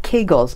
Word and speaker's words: Kegel: Thursday I've heard about kegels exercises how does that fit into the overall picture good question so Kegel rhymes with bagel that's first thing I